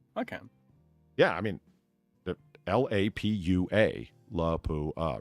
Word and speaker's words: Lapua: should hear people over the way Lao is pronounced it's not laua it's Lapua mhm and people will call each other you